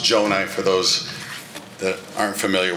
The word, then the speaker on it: Gjonaj: Oakland County Executive good evening everyone I know the G's and the J's get tricky so I'm used to it but it's pronounced Joni for those that aren't